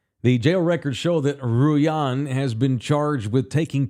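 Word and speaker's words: Rullan: her name is Adriana Ruan Ruan I probably don't pronounce the L's r u l l a n Ruan Ruan Adriana Ruan according to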